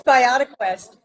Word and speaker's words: BiotiQuest: Is it BiotiQuest or is it pronounced differently? It's BiotiQuest.